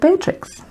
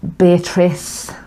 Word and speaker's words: Beatrix: And that's why she's called Beatrix. Everybody gets her name wrong though, don't they? Everyone, well, yeah, or Beatrice, but then we call